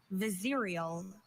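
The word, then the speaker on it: vizierial: Are there any alternate pronunciations? I have just Vizerial.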